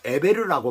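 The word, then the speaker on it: עבר: 것이에요 근데 그 자손들은 에벨이 나오죠 예배는 히브리어로 에베르라고 말을 하는데 발음을 하는데 건너온 자 건너편이라는 뜻을 가지고 있어요이는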